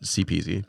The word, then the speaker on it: CPZ: And his rapper name was CPZ, but he spells it CPZ, just the letters, pronounced CPZ.